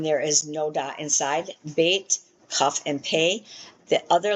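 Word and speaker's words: בית: Bait as in boy, gimmo as in girl, g as in g.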